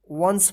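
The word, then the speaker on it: once: पढ़ेंगे क्या पढ़ेंगे सम ओ एन सी ई वंस वंस नहीं क्या पढ़ेंगे वंस पढ़ेंगे क्या पढ़ेंगे वंस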